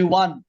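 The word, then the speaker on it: won: আমরা উইনের পাস্ট ফর্মের উচ্চারণ 1 2 3 4, উই ওয়ান, ওয়ানের মতো উচ্চারণ হবে।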